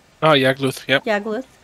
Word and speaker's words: Yagluth: Oh, Yagluth, yep.